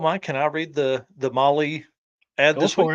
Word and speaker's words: Mahle: And for all the folks that are listening on the podcast, Molly is spelled Mahle.